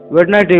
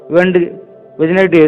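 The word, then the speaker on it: Wednesday: वेडनेसडे व वेडनेसडे दोनों तरीके का उच्चारण किया जाता है।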